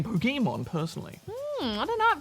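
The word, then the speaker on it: Pokémon: I've got to admit there is a bit more of a an a sound to it kind of like a halfway between poke e and poke a so I'm not sure I mean probably both are acceptable oh well fair enough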